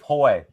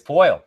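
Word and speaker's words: Poile: Oh, I'm sorry, David Poy. I'm just continuing on screwing up names. It's fine. Nice pronunciation there, Trent.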